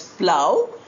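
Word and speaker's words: plough: It is pronounced as plow. It's not pronounced as plow. G h is not pronounced.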